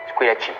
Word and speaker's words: Squillaci: Au nom de Squillaci. Squee? Lachi. Squillaci. Avec un chi, comme ça se prononce.